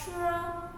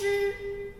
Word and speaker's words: 吃: 吃 Okay, usually we will pronounce chur. No. So it's not chur and not chur. And when you pronounce chi, actually it's the same theory.